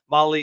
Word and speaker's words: Mahle: Molly is spelled Mahle.